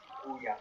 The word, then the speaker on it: Ouya: still exist, like the how do you even pronounce it? The Ouya? Ouya.